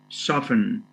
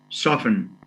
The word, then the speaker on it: soften: n it goes to soften the t is silent soften to make soft then